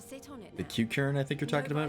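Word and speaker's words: Qiqirn: Kikern, that's how it's pronounced.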